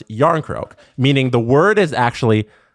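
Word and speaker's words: Järnkrok: Yarn crock. Like cool. Similar to how you say the word cool in English. Yarn crock.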